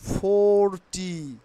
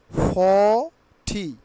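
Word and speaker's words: forty: this video very এটেন্টিভলি okay let's start not ফোর টি নট ফোর টি নট ফোর টি এখন আমরা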